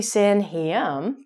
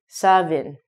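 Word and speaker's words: Samhain: Because it is a Celtic word, it looks like it should be San Heam, but it's actually Savin.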